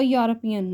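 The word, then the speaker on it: European: नॉट एन यूरोपियन right, क्योंकि इसको देखना है ई इज़ साइलेंट। ऐसे ही ऑनेस्ट में एच साइलेंट है तो ओ को देख के हम लगाते हैं एन ऑनेस्ट। सिमिलरली यहाँ पे ई इज़ साइलेंट और यू को देख के हम लगाएंगे ए।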